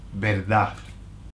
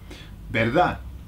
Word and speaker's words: verdad: The Spanish don't pronounce the last D. Either they'll say verdad with a verdad, or they'll say nothing, like they'll leave it hanging, like verdad.